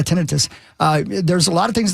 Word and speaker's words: tinnitus: Tinnitus? Tinnitus? How do you say? Yeah, tinnitus.